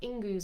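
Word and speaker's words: Ingwaz: Crystal, you've got Ingus or Ingwas as well. It can be pronounced either way.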